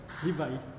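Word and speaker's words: Rivail: esras hipolit Leon danzar rivai a pronúncia né rivai só que o Alan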